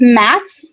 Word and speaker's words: Mads: So it's Mass, as in you're going to Mass.